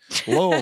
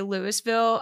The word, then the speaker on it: Louisville: good for you because if you know how to say Louisville you spent too much time there Lille Lille I love I love